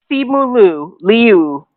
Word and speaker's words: Simu Liu: But, you know, Simu Liu. That's the appropriate way to pronounce his name.